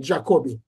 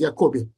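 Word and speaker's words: Jacobi: special name it's called The Hamilton yakobi people pronounce this name jakobi that's the correct ation is yakobi Hamilton yobi equation and as a matter of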